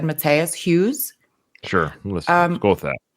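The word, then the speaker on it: Matthias: you guys know how Matias Matas it's spelled Matias but I would have said Matas Hughes sure listen go with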